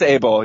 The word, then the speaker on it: Abel: And do you feel like you left your debate with it's Abel or Ebel? How do you pronounce that last name? I believe it's Abel, yeah.